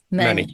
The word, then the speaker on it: Merneith: the story of, and I hope I pronounced it correctly, Merneith? Yes, Merneith.